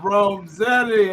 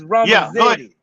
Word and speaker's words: Romazetti: Am I saying it right, Rome? No, man, no. Rome, It's Romazetti. Yeah, Romazetti. Yeah. Oh, okay. Right. Yeah. It's not an A. It's not an A on the end.